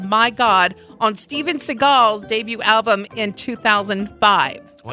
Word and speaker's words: Seagal: Seagal.